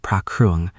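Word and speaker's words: พระเครื่อง: It was a small bronze amulet, a pra kruang, phonetically pra kruang, the kind Buddhist Thais wear on a chain or tuck in a wallet for protection.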